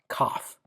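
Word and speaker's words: kaf: Then we have um cough.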